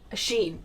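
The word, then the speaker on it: Shein: and summer yeah Anders how do you pronounce it Sheen Shane sheen sheen okay Sheen is good yeah it's really cheap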